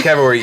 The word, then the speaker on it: cavalry: It is Cavalry.